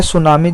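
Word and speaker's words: tsunami: जाता है इसी तरह सुनामी जो है उसको लिखा जाता है टी सुनामी और जो टी है इसमें साइलेंट रहता है तो इसका जो आंसर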